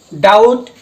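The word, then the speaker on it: doubt: থাকিব তার পিছ ডি ও ইউ বি টি ডাউট yeah B two silent থাকিব তার মানে কোন বাটু ওয়ার্ড যদি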